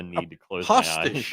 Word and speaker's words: postiche: A fake beard is called a postage A postage. or a prosthetic beard. Postage. Postage? That works for me. I don't know. Postiche. It rhymes with quiche.